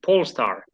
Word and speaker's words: Polestar: the amazing company pole star actually am i pronouncing right is it pole star yes yeah you're right yeah thank you uh